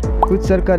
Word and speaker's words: Hvitserkur: को, जिसका नाम है क्विटसर्कर। जी हाँ, आइसलैंड में इसको इसी नाम से जाना जाता है। इसका प्रोनाउंसिएशन कुछ इस प्रकार है। क्विटसर्कर एक नेचुरल रॉक फॉर्मेशन है जो आइसलैंड की समुद्र तट में स्थित है।